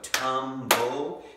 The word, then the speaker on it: tumble: We hear that L, but we don't hear that E.